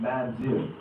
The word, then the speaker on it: mamzer: In the Hebrew, you'll see that word, how brothers pronounce it, mamzer.